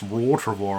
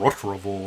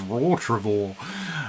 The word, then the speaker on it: Rottrevore: I think um yeah I never realized it's pronounced Ro travor I was calling R tror all these years but it actually says raw travor um but yeah at any rate these guys